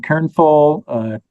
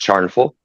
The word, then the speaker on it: Kernful: And in here, we got hi from Kernful, Christian there, making $250. It's pronounced Charnful. Charnful. Swedish is hard.